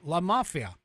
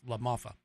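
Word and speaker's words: LaMalfa: pronounced that correctly, and Doug La Mafia or La Mafa. I said mafia, but it's La Mafa.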